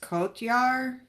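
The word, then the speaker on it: Cotyar: I really liked Ava Sarala, and is his name pronounced Kotyar?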